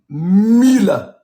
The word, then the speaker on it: Miele: Our friend Jochen taught us it is Miele. Miele. Like a nice woman's name.